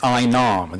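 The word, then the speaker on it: ái nam: The call for it is I Nam. The accent is on top of the letter I.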